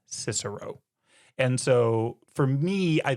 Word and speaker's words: Cicero: We don't say Cicero. We say Cicero. And so for me I think it would be pretentious if I threw in the hard C because I don't do it with all these other ones.